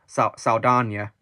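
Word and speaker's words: Saldaña: it's spelled Saldana, but it's actually got an accent on the N, so that's why I pronounce it as Saldana. See, I pronounce it like that, yeah. Zoe Saldana is a great actress.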